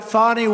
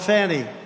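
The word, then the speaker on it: Fani: have to pronounce it fonnie it's called Fanny you have to pronounce fny I don't know how she go she should add a little you in there someplace if she wants people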